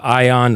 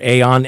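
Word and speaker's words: Aion: Aon right I mean this is a Greek word that can be pronounced ion or Aon and it's if you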